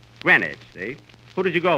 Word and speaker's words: Greenwich: yesterday in Greenwich Village uh Kenny that's not Greenwich you see here in New York it's pronounced Greenwich Greenwich see who did you go with Johnny Quinn